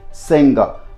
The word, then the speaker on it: singer: he is a great singer now interestingly both in British and American English there wouldn't be any G so you need to sound this without G so you gotta sound